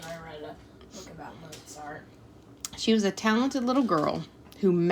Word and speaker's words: Mozart: Wolf Gang Amadeus Mozart for proper pronunciation sound out a t in the first syllable of Mozart we did that moart moart he was complicated a complicated